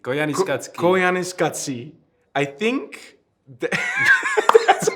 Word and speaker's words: Koyaanisqatsi: And it's Koyaanisqatsi, if I'm saying it What did you call me, correct.